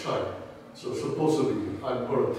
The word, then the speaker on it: Chua: And actually, one of my ancestors, Chai Lun, my Chinese pronunciation of Chua is Chai.